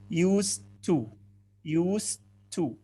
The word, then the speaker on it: used to: طيب احنا في عندنا used اللي هي يستخدم, دي بتنطق used, لكن use to بتنطق كأنها تي. used to.